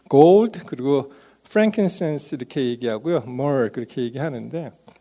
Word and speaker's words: frankincense: 이 gold 그리고 frankincense 이렇게 얘기하고요. myrrh 그렇게 얘기하는데 어떤 분은 이 frankincense를 잘못 발음해서 frankenstein으로 발음한 사람도 있었어요.